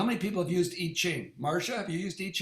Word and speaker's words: I Ching: let me the way the real way to pronounce it is itching so how many people have used eat ching marsha have you used